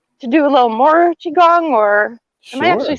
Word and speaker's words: qigong: like maybe uh to do a little more qigong or am i actually saying it right yet